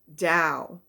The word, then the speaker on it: Dao: to do with the Dao okay and that's what latu was teaching was the da and da is spelled t t AO so it's kind of different pronunciation but it's a way